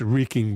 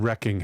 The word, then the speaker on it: wreaking: It's wreaking, by the way, not wrecking havoc, people.